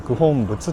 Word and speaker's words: 九品仏: 数字の 9 に品川の品に仏と書いて九品仏と、呼びますね。